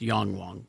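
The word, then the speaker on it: Yangwang: It's the Yang Wang U9 No, Extreme. Carrie, no. Carrie, it's the Yang Wang U9 Extreme, or U9X. It might be pronounced Yongwang, by the way.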